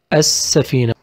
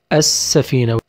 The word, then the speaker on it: السفينة: We pronounce it السفينة. السفينة. We don't pronounce لا.